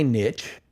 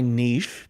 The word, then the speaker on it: niche: So this is my opportunity to find my niche, or my niche, depending on how you like to pronounce it, the same way you're doing it with the podcast guest optimization kind of empire.